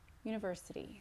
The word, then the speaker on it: university: So try to get this down to 2 beats. University, university. I know it has 3 syllables. 4. University. 5 syllables. I want to hear at the most 3. University, university. Try to get it to 2.